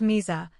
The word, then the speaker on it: Mesa: The town name is pronounced Misa, not Mesa, which even after all the years I've lived in the Tri Cities, still strikes me as wrong.